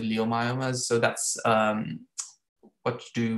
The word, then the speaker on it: leiomyomas: about leiomyosarcomas or leiomyomas, which is the proper pronouncing is leiomyomas, but it's written as L-E-I-O. So I pronounce it leiomyomas.